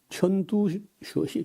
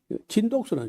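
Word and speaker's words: 陈独秀: 그래서 어 중국의 오사 어 운동을 일으켰던 사람이 천 천듀 천두슈 바람이 천두슈 천두수는 이제 우리 한자를 우리 읽기로 하면요 진독수라 진독수 진독수를 이제 중국 이름은 중국 발음은 턴두슈 그다음에 노신이라는 사람인데 루신 그래요.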